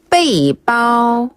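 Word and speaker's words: 背包: 또 뭐라고 하죠네 배낭은 빼이 빠오 빼이 빠오 빼이 빠오 빼이 빠네 여기서 빼는 빼이라고 발음을 하시면 되는데요 짐 질머지다 이런 뜻이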